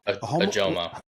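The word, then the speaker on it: Ojomo: Ajomo. Ajomo. You like the Ajomo Yes. instead? Yes. No, he's not Spanish. You pronounce the J.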